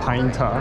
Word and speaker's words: Pineta: 哦，pine 塔。 pine 塔。哦，pine tree，然后塔。 Yeah。 OK。